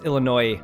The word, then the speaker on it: Illinois: Illinoisies, no, because it's not pronounced with an S. So many people at Illinois. work. It's Illinois, by the way.